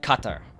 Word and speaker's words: Qatar: one people use uh it's like qatar that's that's how you pronounce it but i'm not doing